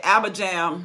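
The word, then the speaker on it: Abijam: name right i say abba jam but i heard a man says abraham they don't pronounce the j like we do it in the western world i'll be home so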